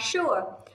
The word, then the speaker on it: sure: Sugar, sugar. Và sure, chúng ta thấy âm S mà đi với U thì cũng có thể được đọc là sh, sugar, sure.